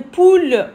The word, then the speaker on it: poule: Une poule, O-U, ou, on le prononce ou.